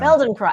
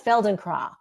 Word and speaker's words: Feldenkrais: It's a German word. yeah. Feldenkrais. I think it's Feldenkrais.